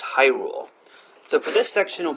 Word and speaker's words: Hyrule: To repeat, the secret word is pronounced Hyrule.